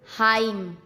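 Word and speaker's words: hymn: एम एन एक साथ हो तो एन को चुप रहना पड़ता है। ओके। जैसे AUTUMN, autumn, column, dam, हाइम।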